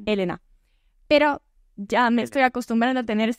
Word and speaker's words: Elena: no me conociera e en realidad pronuncia mi nombre con la tilde en la primera e en italiano Entonces sería Elena pero ya me estoy